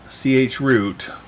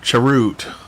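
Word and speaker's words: chroot: rpms to the worker ch root or charute uh however you want to pronounce that i've heard it both ways um we'll go till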